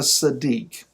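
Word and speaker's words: tzaddik: d i k sadiq when you see the hebrew letters transliterated t z it's kind of like the the sound of the z and pizza it's got a t in there so a sadique a sadiq is one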